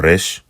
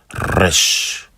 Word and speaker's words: resh: Yeah, it's a trill sound.